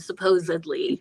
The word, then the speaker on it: supposedly: So the mispronunciation of supposedly. It's a D, not a B.